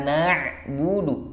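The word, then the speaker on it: نعبد: itu yang tepat iyaka nabudu na huruf na dulu baru Ain Na buudu bukan Na buudu bukan dari huruf nanya Jadi bengek nabudu bukan nabudu nabudu iyaka na'budu wa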